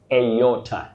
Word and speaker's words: aorta: But the pronunciation begins with the sound A. Aorta. You say aorta, not aorta. The last one, you say, oh, that one is tricky, Wakio, because we hear aorta. Aorta is very common, but you say aorta.